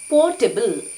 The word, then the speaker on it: potable: ಇವತ್ತು ನಾವು ಕಲಿತಾ ಇರುವಂತಹ ಕೊನೆಯ ಪದ ಪೋರ್ಟೆಬಲ್. ಪೋರ್ಟೆಬಲ್, ಇಲ್ಲಿ ನಾನು ಉಚ್ಚಾರವನ್ನು ಬರೆದಿದ್ದೀನಿ ಕನ್ನಡದಲ್ಲಿ.